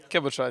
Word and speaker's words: Cabochard: I'm joined right now by Cabochard. Is that how you pronounce it? Cabochard, yeah, exactly.